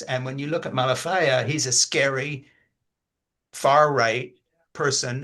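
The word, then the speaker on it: Malafaia: How do you say his name properly? Malafia. Malafia, yeah. Malafia, these are bad people.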